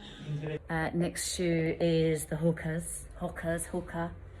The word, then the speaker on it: Hoka: Hoka.